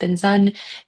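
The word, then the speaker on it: bình dân: So BIN, or how it's spelled in it looks like BINH and space DAN, but it's pronounced Binzun.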